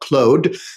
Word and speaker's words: Claude: know conversational AI is Claude or as Canadians like to call it Cloe you know the French pronunciation but I do like